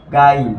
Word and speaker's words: guile: যেমন দেখো GUILE, এটার উচ্চারণ হবে কি? গাইল।